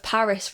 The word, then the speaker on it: PVRIS: But I've been listening to a lot of Paris recently. Right. Have you heard of that band? Don't know who so that it is spelled PVRIS.